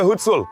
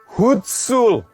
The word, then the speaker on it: Hutsul: Who is a hutul? Or how do I say it correctly? Hutsul.